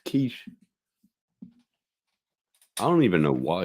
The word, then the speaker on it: quiche: Quickie. No, it's quiche.